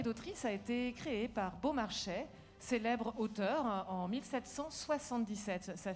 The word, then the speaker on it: Beaumarchais: En tout cas, Maestra Capella, je vois que vous prononcez exactement comme il se doit Beaumarchais. Oui, Beaumarchais, non, parce que c'est formidable, Beaumarchais.